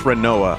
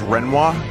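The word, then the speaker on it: Rinoa: That's Renoa. Yeah, I know. Do you know some people pronounce her name as Renoir? I reject that hypothesis completely.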